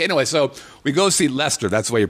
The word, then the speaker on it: Leicester: Okay, anyway, so we go see Leicester. That's the way you pronounce it.